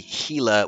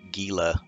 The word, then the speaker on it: Gila: both rainbow trout and gila trout i think the correct pronunciation may be gila with an h but it's spelled with a g so you'll hear me say gila over and over again